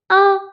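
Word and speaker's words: un: میشه زغو عدد یک آ دقت کنید. تلفظش با حرف ا فرق می‌کنه.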